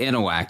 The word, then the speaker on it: Anahuac: Anahuac. Is that how you say it? That's how you say it. Anahuac, yeah.